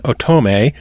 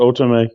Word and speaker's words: otome: simply because it's an otome. Was that it? Otome? Yeah, I call it otome. If someone Otome. says otherwise, guess what? They taught us something. The emphasis on the third syllable.